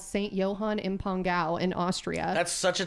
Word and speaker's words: St. Johann im Pongau: I was positive I was saying it wrong, and so I started saying St. John, St. Johann, and I got quickly corrected that no, it is St. Johann im Pongau.